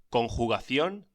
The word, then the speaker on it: conjugación: Conjugación. La J se pronuncia como la H inglesa, con una fuerte aspiración y como el alemán CH en AG.